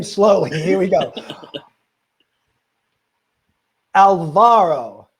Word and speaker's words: Alvaro: slowly here we go alvaro alvaro i was just kidding i knew how to say it i was kidding i was putting the accent on the wrong side you know exactly oh